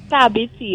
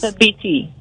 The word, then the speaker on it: Thabiti: It's Tabiti. It's an African name. What it means is? a true man. What it is? Tabiti.